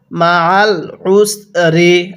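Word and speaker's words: مَعَ الْعُسْرِ: জার রি মা আল উসরে হ্যাঁ কিভাবে শিখবো মা আল উসরে আরেকবার আমার সাথে পড়ুন মা আল উসরে এরপরে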